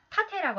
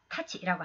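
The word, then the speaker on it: 太刀: 짧은 칼을 일반적으로 지칭하고 타테라고 하는 것은 아주 크고 긴 칼을 타치라고 합니다. 아, 타테 아니고 타치입니다. 타치. 현대는 타치라고 읽어요. 근데 이것이 아마 그 고대에는 타테로도 읽었던 것 같아요.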